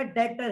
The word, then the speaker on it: debt: और जिसको मैंने कर्जा दिया है वो मेरा डेटर है। असल में ये DEBT एक वर्ड होता है, डेट, बी साइलेंट है।